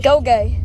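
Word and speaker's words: Ngugi: Go-gay. Gogay. Wait, but it's spelled N-G-U-G-I. That's how it's pronounced.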